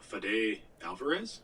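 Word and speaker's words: Fede Álvarez: movie by Evil Dead and don't breathe director fade Alvarez yeah that's how you pronounce it as well as a pretty cool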